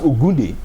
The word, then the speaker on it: Ogunde: Yeah, because Ijebu people actually pronounce the name as Ogunde. Ogunde. Yes, the N is silent. Ogunde.